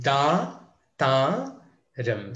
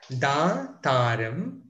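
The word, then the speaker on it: దాతారం: Okay, so let's take Dhaathaaram. So those two are long vowel sounds. Dhaathaaram. Dhaathaaram. Dhaathaaram.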